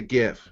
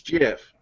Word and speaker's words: GIF: worth I pronounce a gift and he says yeah but i think that i think the person that invented it says it's jeff so I was like